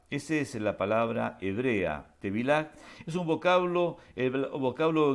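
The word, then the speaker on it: טבילה: La palabra bautismo en hebreo se pronuncia la palabra bautismo tevilaj.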